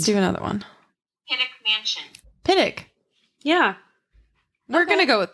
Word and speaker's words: Pittock: mansion shut up yeah is that how you say it pitic uh now i'm like thinking about it because that's how i've always mentioned heard it but it's spelled like pitoc i hear a lot of people i hear oh my god i can't say words i hear a lot of people say piddok mansion piddok okay let's